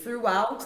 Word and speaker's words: throughout: Throughout também não aparece.